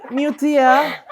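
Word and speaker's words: Meutya: Iya, dia imut, Pren. Harus gitu pronounce-nya. Mutia. Itu harus gitu.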